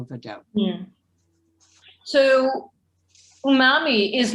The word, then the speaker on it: umami: Cathi, how do you spell umami? It's There he spelled, is. and who asked that? Lori. Okay, Lori, it's spelled and it's set.